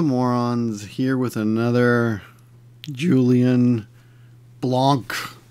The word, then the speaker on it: Blanc: It is Victor the king of the morons here with another Julian Blancc. Apparently his name is pronounced blanc not blank.